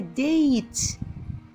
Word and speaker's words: date: What is the date? The E is silent. Date. Date. When we have two vowels, the first vowel says its name. The second vowel is what? Silent. The second vowel says nothing.